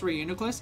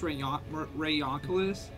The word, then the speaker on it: Reuniclus: Oh, did you guys know it's not actually pronounced Reuniclus, it's pronounced Rayonculus?